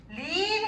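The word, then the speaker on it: leap: 립 해서 이게 길게 발음해야지.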